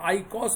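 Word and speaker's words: eicosa: 20 पे थोड़ा बदलता है, स्पेलिंग होती है EICOS। इसको हम लोग आइकॉस बुलाते हैं।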